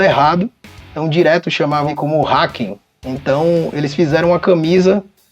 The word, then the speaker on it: Haken: O problema é que as pessoas começaram a pronunciar o nome da banda errado. Então, direto chamavam como Haken.